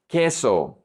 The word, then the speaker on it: queso: Queso, queso. The U is silent.